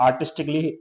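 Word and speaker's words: artistically: आर्टिस्टिकली लिखा हुआ है आर्टिस्टिकली में आप देख रहे हो कि ए डबल एल वाई है इसके एंड में तो आर्टिस्टिकली में ए साइलेंट है आपका और आर्टिस्टिकली का मीनिंग होता है कलात्मक लॉजिकली में आप देखोगे तो यहां पर यहां पर भी ए साइलेंट है इसका मतलब होता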